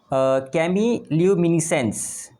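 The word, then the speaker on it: chemiluminescence: इसका प्रोनाउंसिएशन कैसा होगा, कैमील्यूमिनेसेंस, ठीक है, कैमील्यूमिनेसेंस, ठीक है।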